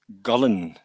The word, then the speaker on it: Gullane: I answer to Gullane now. Gullane, the Dutch version now. Gullane, yeah. But the way my family pronounce it is Gullane.